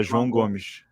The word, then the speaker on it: João Gomes: Yeah, João Gomes.